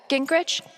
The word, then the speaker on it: Gingrich: Steph, Gingrich?